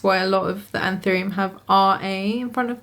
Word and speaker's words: Anthurium: I do now realise that it's pronounced Anthurium, so sorry for me keep saying Anthurium in this video, and it was indeed Rory Anthurium who founded this plant in Panama originally.